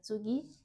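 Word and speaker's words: 次: Wait, it's tsugi? Yes, Tsugi. very good. So in this case, G, or it's often pronounced tsugi, Tsugi. Tsugi. ni. It's also voiced. So this should be pronounced.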